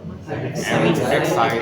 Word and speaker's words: excited: Excited. Ini baca jelas nggak? I'm excited. Beda dong. I'm excited, right? Jadi ED itu ada yang dibaca dengan jelas, ada yang enggak ternyata.